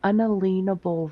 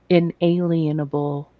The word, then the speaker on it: unalienable: But we were endowed by our Creator with certain unalienable rights. And I know people mispronounce it and say inalienable rights, but they don't get what that means.